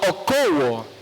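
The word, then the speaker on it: ἀκούω: versículo viene de la palabra griega que se pronuncia oko y significa oír para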